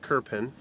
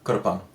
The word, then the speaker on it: Krpan: k yeah and it we we would pronounce it in in English kpin yeah in Croatian it would be Kuran yeah and it's KR